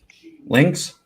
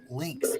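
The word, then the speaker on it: Lynx: name's l y n links that's right yes a lot of people can't pronounce it they want to call me like Zelda or something like that I'm not Link from Zelda okay it's links it's bobcat a lot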